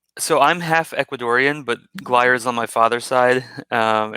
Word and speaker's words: Glyer: i'm sorry about that gliar yeah i get yeah gliar is fine i get geiler a lot but guyer is the the right one it is okay cool